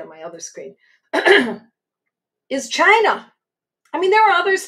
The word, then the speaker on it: China: I love China. China 200. Some people pronounce it Kina, but I mean, let's not be esoteric, okay?